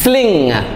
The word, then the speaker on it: sling: വായിക്കരുത് സ്ലിങ് ഫ്ലിങ് എസ് എൽ ഐ എൻ ജി സ്ലിങ് സ്ലിങ് വലയം വളയം okay സ്ലിങ് സ്ലിങ് operation എന്നൊക്കെ